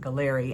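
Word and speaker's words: Galleri: a test by a company called grail called gallery spelled like gallery with an eye on the end of it but they pronounce it gallery and it's a fascinating blood test that can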